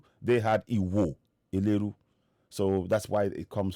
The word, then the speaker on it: Iho Eleru: original inhibitory specimen i i would say iwo liru because they say iwo which is spelled wrong i suspect that when